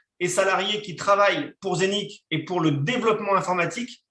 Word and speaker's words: Zeniq: Donc, la compagnie Zénith, d'accord, ça s'écrit Z-E-N-I-Q, a été créée en